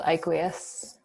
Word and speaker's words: Aiqueous: It's called Iquius. How do you spell that?